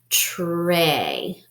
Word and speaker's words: tray: and so that means the Y is silent and it helps the first vowel say its name so this will be a long a and the Y is gonna be silent ready Trey Trey they brought out